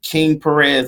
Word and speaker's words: KIIN 9 Perez: You can type in KIIN 9 Perez, my last name, and that's spelled KIIN 9 PEREZ, which is King Perez.